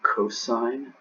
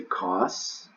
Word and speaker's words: cos: of theta the next one is called the cosine of theta the last one is called the